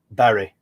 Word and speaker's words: Bury: So that's just north of Bury, or Bury again, depending on how you want to pronounce it.